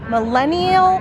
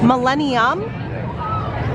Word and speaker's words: Millennium: Millennium? I always say it wrong. Millennium, that is so hard for me to say. Millennium Falcon. Millennium Falcon. It's so difficult because it's an M and then an N.